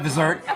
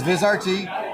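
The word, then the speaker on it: Vizrt: If you're not the only one that pronounces it, Vizert. Um, so it's okay. But it's Viz RT.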